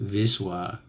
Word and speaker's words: Wisła: The Vistula, which is pronounced Wisła in Polish.